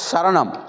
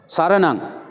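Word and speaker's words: सरणं: बोलता है बुद्धम और शरणम शरणम शरण नहीं आता है स स आता है सरनाम सरनाम कहा तो बुद्धम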